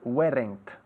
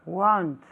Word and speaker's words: weren't: Lo que muchos españoles pronuncian weren't. ¿Ok? Weren't. Dilo tú, Pilar. Want. No, weren't. Want. Weren't. Want. Eso es mejor, ¿eh? Okay. Ahora en casa, weren't. Todos. Weren't. No es won't, porque won't sería el futuro, de will not, la contracción ahí.